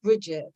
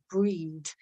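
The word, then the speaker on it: Brigid: the RR one is breed and she's often pronounced Bridget or Bridget Bridget but she should actually pronounce Gaelic breed like you know at the breeder a breed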